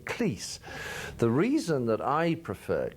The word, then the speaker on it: Cleese: was that my mother whose name was cross with a sibilant s at the end always called it Cleese and as I said one satire twice if your parents can't agree on how to pronounce their common family name they're not going to agree on much else but I've always preferred Cleese and thank you for getting him right what's all this about